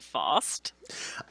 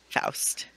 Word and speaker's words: Faust: Though clearly I hadn't heard as much about it as I thought I had, because I've been pronouncing it Faust. I was also pronouncing it Faust. That's okay. Faust. I've always heard it Faustian.